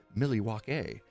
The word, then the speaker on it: Milwaukee: he was from a the proper way to uh pronounce Milwaukee is actually Milly walk a stemming from the uh the Native American tribe that inhabited the land something like that I